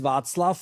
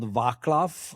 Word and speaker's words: Václav: So my name is Vaclav, and not Vaclav and not Vaclav, as some people would pronounce it.